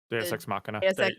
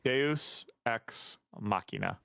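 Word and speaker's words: deus ex machina: card, it's like dex machina. Dex. Yes, thank you. Deos, say it. Say it again so I know how to say it right. Deus x Machina. Deos xmachina. Okay.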